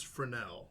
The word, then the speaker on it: Fresnel: Like all names in New Orleans, there's a silent S. I mean, Steve is spelled Steve, and the first S is silent. Yeah. Come on, guys. It's French.